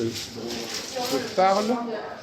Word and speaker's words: je parle: Il ne faut pas prononcer le E. Voilà. Le français. Parce que c'est elle. Elle. Oui. Ouais. Rien que ça, déjà, tu vois, déjà un problème. Je parle.